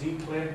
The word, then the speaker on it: Giclée: The most common form of printing is Giclée, which is actually pronounced Ziclée. It comes from a French word that was coined in 1991 by Jacques Dugan.